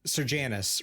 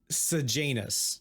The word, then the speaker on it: Sejanus: Okay, in the audiobooks they pronounce it as Serjanus, right? But it is Sejanus, like Sejanus in the books.